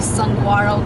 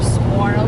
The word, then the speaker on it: saguaro: Currently we are in the Sonoran Desert because we see saguaro cactus or saguaro cactus. Depends if you like G's or not on your pronunciation.